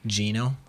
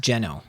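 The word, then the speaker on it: Geno: talking about this game I didn't even mention Gino or he's actually pronounced jeno so correct pronunciation would be jeno but everyone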